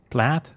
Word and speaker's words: plaid: any shirt with a plate. Plaid. How do you pronounce that freaking word? Plate. Plate. Plate sounds incorrect. Plaid. Plaid. It's a plaid shirt. Rhymes with Matt.